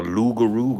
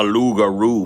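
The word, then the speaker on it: loup-garou: watch out you better watch your back the lugaro going to get you my looks Viking today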